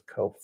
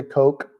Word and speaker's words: Koch: And so just the folks in our little area here in Harlan, my family says Koch is Kof. And some people say Coke, like the drink.